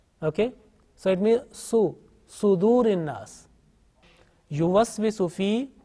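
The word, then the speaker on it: صدور: Now this Saad, sometime pronounced unintentionally with Fatha, like Yuwaswisu fi Sadurin Nas. So make sure that this Saad, whenever you teach to others, this Saad is with Dhamma.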